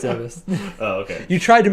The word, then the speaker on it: Zebes: No, it's Zebes.